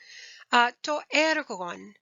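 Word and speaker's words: τὸ ἔργον: To ergon. Now, you probably are thinking ergonomic, right? And you're on the right track there.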